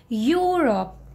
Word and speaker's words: Europe: to while pronouncing you have to start it with Y okay Euro Euro Europe can I show you let me show you so you will get the idea okay so now see the pronunciation of this word so just listen Europe Europe okay Europe Europe did you get so you have to make that Y sound this one I don't